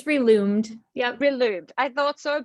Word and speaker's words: Relumed: please, is Marita, is that, how do you pronounce it? It's Reloomed.